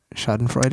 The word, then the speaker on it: schadenfreude: schadenfreude oh is that how you say it schadenfreude yes it's that's that that is what I